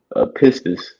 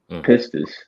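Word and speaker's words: πίστις: All right, it's a commodity, but that word faith, um, I believe it's pronounced pistis, pistis, and when you go into that word, it basically goes into conviction, right?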